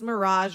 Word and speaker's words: Mirage: buy Hawaii tickets and she thinks Mirage rhymes with job and we don't it